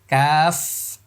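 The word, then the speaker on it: ق: জিহ্বার মানে শুরু হলো, এই জায়গাটা হলো গলা, আর এখান থেকে জিহ্বার গোড়া শুরু হয়ে এই পর্যন্ত কাজ করবে। ওকে ইনশাল্লাহ। ওকে, আমরা আবার যাচ্ছি ওখানে, লক্ষ্য করুন। হ্যাঁ, ওকে, আমি আবার বলছি, কফ। ওকে, আমি আবার বলছি, কফ। সবাই বারবার বলতে থাকুন, ক ক ক ক ক, এভাবে আওয়াজটা হবে।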